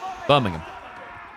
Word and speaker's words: Birmingham: How do you say Birmingham? Birmingham. Not ham. There's nothing ham about it.